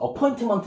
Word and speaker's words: appointment: appointment은요, T 발음을 잘 안 해요. 그래서 appointment 이러지 않고요. appointment. 미국에서는 이렇게 T가 두 개 들어가는 거 있죠? 같이 붙던 떨어져 있던 T가 두 개 있으면요. 그 T 발음을 안 하는 경우가 되게 많아요.